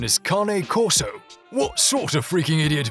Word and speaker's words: Cane Corso: anymore number nine you've probably been pronouncing its name wrong the whole time c a and e kane right well because this originates from italy and